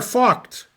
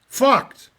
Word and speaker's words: Vogt: Okay, here we're starting at the end of the game, and if I pronounce the last guy's name correctly, it's Lothar Vogt. Vogt.